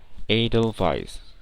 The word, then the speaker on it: edelweiss: edelweis kalo dalam bahasa Inggris cara pengucapannya atau pronounciationnya adalah Edelweiss Edelweiss Edelweiss Nah kalau dalam bahasa Indonesia ya